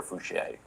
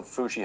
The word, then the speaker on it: Foushee: How do you say it, Foushee or Fouchier? Foushee.